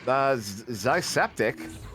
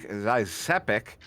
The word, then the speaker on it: Zysepic: Zysepic. So there's no T in that. Like there was never a T in my name.